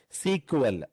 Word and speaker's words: SQL: server is important so this is also called as sql we will be calling this as a sequel okay so we will be pronouncing like this sql sequel sequel so but you have